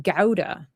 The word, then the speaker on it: Gouda: Uh it's pronounced gouda in Netherlands. So, in America we say gouda.